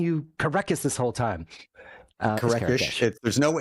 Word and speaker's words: Kerekes: It's actually Kerekesh. It's like the H is silent. It's so silent it's not even there. There's no H. It's just like Kerekes.